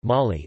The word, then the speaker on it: Mali: Mali, listen, French pronunciation, Mali, officially the Republic of Mali, French, République du